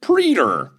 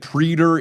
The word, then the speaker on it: praetor: First up, praetor, he calls it preter.